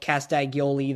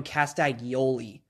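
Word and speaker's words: Castagnoli: i'm ready for claudio castagoli though i i said his name wrong it's claudio castagioli but it's whatever uh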